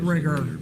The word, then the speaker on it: rigor: Called the Riger.